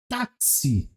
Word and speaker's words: táxi: Por exemplo, táxi. Se fala táxi, mas se escreve taxi. Mas por que que eu não falo taxi? Eu falo táxi porque nós já temos esse reconhecimento visual direto.